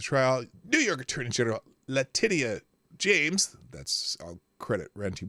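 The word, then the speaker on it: Letitia: day of the trial New York attorney general latia James that's I'll credit ranty monkey with that uh pronunciation and um uh latius James lawsuit and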